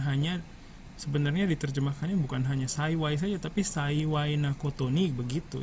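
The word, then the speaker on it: 幸い: Terus saiwai, ini bacanya saiwai ya.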